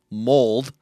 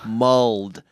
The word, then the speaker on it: mulled: on this show before i'm not saying mold no mulled m-u-l-l-e-d which is basically a